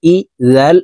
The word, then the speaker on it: إذا: হামজা জের ই, জাল আলিফ জবর জা, ইজা।